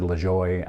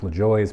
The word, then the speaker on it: Lajoie: Everybody pronounces it different. I've always said LaJoie.